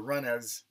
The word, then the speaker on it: Mrunas: It's actually spelled Mrunas, or the Runners. The M is silent.